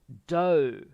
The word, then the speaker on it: dough: these words here and dough listen to the pronunciation do do okay yes it's written like yeah do okay next one